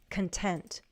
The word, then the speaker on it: content: Watch the stress. The stress is right here. Content.